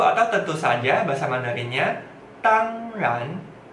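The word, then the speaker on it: 当然: Tang ran, tang ran, nada satu dengan nada dua. Tang ran, tang ran. Coba sekali lagi. Tang ran, tang ran.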